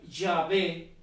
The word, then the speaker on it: Yahvé: Ese en el castellano, en el español, se puede pronunciar Yahvé, Yahweh o Jehová, pero todo esto, todos esos nombres que son uno solo o que son lo mismo, significan el que es.